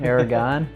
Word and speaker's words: Aragon: well we've determined that you pronounce it like the air is gone Aragon right right like you